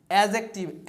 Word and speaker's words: adjective: एडजेक्टिव, एडजेक्टिव नहीं, D silent है, तो नाउन, प्रोनाउन, एडजेक्टिव, वर्ब इसे पढ़ते हैं वर्ब, वर्ब नहीं पढ़ते हैं।